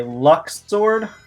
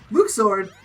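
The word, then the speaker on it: Luxord: Somebody say luck sword? Luke sword! Yeah, I'm sorry, that's the correct pronunciation.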